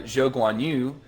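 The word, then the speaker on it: Zhou Guanyu: other thing was uh joe gwanyu uh yes that is the way that you correctly say his name we will not be doing it the westernized way uh unusual yeah joe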